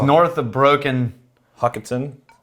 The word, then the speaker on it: Hochatown: How would you pronounce that town? It's north of Broken. Hochatown. Hochatown.